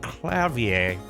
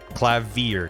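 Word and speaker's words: Klavier: pronunciation within Google clavier so the British pronunciation is clavier clavier clavier American is clavier American pronounces the r at the end more well I'm probably just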